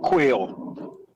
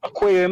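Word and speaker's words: Quao: sign, you know, yes, sir, and Kojo and Quail. Quail name pronounced Q-U-A-O.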